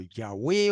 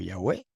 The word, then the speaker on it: Yahweh: Pero Yahweh o Yahvé, ambas pronunciaciones son correctas, Yahvé o Yahweh, es un nombre propio.